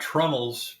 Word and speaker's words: trunnel: I've got trunnels from this one, and to better explain that, a trunnel, as I mentioned in that statement, is an intentional mispronunciation, I guess, of tree nail, and it's like a